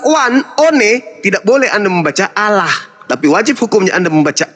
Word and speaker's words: Allah: Jadi jadi cara membacanya adalah Allah.